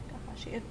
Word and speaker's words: Takahashi: Takahashi. Oh, it's just exactly what it looks like.